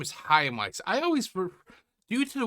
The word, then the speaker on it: Chaim Weiss: Okay, so his name is Haim Weiss. I always due to the way it's spelled I always spel pronounce as cam weiss but it's a single blow to his